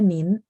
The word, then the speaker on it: 您: Jadi yang penting teman-teman tahu, oh nin, bacanya memang ada n di belakang ya.